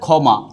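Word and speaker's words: ক্ষমা: আর খ উচ্চারিত হয়েছে কিন্তু খিও যদি শব্দের আদিতে থাকে যেমন এই হচ্ছে যে খমা তখন এই খির উচ্চারণ হবে কি এই খ মা অর্থাৎ খিও যদি শব্দের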